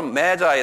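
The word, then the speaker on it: Magi: 이학 지방에 사는 아이 동방박사를 영어로 메자이 그런다 매 우리 메자이 이게 메자이 건 뭐냐면 매직이란 말에서 나온 말인데요이 동방 박사를 메자이 그래요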